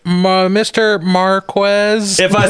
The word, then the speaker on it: Marquez: Marquez.